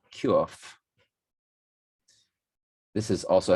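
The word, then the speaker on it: קוף: The Q in the Hebrew alphabet is pronounced Quf.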